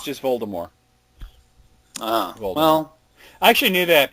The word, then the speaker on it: Voldemort: Voldemort. Yeah, that's wrong. Why? How do you say it? You don't pronounce the T. Oh, Voldemort. It's just Voldemort.